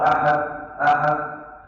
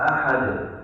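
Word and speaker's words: أحد: Waktu baca kata ahad, ada yang beberapa bacanya yang salah. Yang pertama, kalau tidak muncul qalqalah, "Qul huwallahu ahad, ahad." Ini tidak sempurna. Yang sempurna qalqalah ahad.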